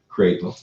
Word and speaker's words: Crapo: I said it right, Crapo. First time.